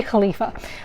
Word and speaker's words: khalifa: in impressing the khalif actually in arabic is khalifa and english is caliph so i've actually been doing some kind of completely wrong pronunciation where i've been combining the two so it's actually khalifa or lose your way